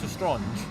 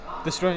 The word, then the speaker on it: Lestrange: Like Helena Bonham Carter in Harry Potter as Bellatrix Lestrange.